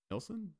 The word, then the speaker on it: Nielsen: Like the Neeson ratings? Yeah, the Neeson ratings. No, not it's the the Nielsen ratings.